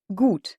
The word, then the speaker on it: gut: écrit g u t le U allemand se prononce toujours ou encore une fois c'est